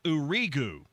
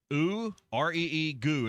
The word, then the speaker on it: Uriu: And Caleb, now this is the one that it's Uriu. U re egu is how they gave us the pronunciation.